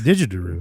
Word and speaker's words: didgeridoo: You got an extra syllable there. No, it's a didgeridoo.